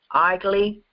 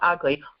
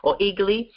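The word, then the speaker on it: Aegle: of the healing process this one's hard to pronounce igly not ugly igly eagly uh the goddess of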